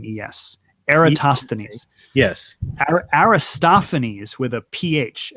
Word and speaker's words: Eratosthenes: this really bugs me Aristophanes was a poet Eratosthenes was the librarian at Alexandria who did this so it's with an e er a TOS th e M yes Eratosthenes yes Aristophanes with a pH Eratosthenes was a poet okay and actually his there